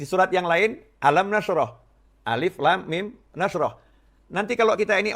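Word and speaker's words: الم: Kita misalnya baru belajar membaca, tahu ada tulisan alam nasroh sama alif, lam, mim. Disandingkan alif, lam, mim. Karena tulisannya juga sama, alif, lam, ketemu mim. Di surat yang lain, alam nasroh, alif, lam, mim, nasroh.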